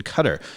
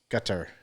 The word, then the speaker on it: Qatar: So the correct pronunciation of the country has always been Qatar, but everybody in the U.S. has always been calling it Qatar for years.